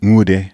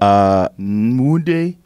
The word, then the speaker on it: Nwude: Nwude. With an N. But yeah, are you Emmanuel? But how are you doing it? It's an N, but the pronunciation's a little bit different.